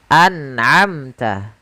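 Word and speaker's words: أنعمت: Kemudian kita ambil contoh yang ketiga, an'amta. Suara nunnya harus dibaca dengan jelas, amta. An'amta.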